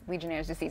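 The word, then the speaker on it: Legionnaires' disease: here alright so let's start with what is Legionnaires disease am I even saying it right you doing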